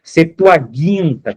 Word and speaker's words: Septuaginta: tradução dessa Bíblia aqui, a Septoaginta, tá? Septuaginta, como muitos pronunciam.